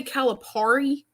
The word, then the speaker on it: Calipari: say his name and you say Calipari is it par or Perry Perry he said it yeah per now I